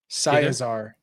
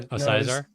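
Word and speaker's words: Scizor: Scizar or Scizar.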